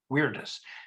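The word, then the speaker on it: viridis: to pronounce it but there is no soft v in latin so it's pronounced weirdest anyway i want you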